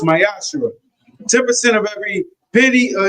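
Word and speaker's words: מעשר: Tithe, which is a commandment you can find in numbers 18 21 in Malachi 3 8-10 means 10th in Hebrew, is pronounced myashu.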